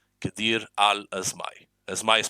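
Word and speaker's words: Qadir: of the camarilla Kadir is pronounced with a Q so q a d i r Kadir as asay is pronounced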